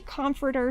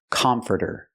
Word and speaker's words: comforter: pronounce the word comforter it's not comforter it's not the a sound like hot and stop it's the uh uh sound like cup and up CC closed and relaxed come come comforter we hear here the T pronounced like a fast D furter furter come comforter